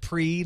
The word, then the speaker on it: Prix: I like this Grand Pricks game and my parents both rushed to correct my pronunciation pre it's Grand Prix honey well see I don't